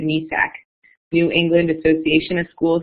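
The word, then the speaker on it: NEASC: So we're accredited by, I always pronounce it NESAC, New England Association of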